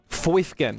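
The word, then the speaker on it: Fifine: Fifin. Yes, that is how you say it.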